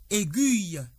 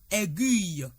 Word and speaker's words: aiguille: Je renchérirai sur la substantivation pour dire que le mot A i G u I de L e se lit aiguille et non aiguille.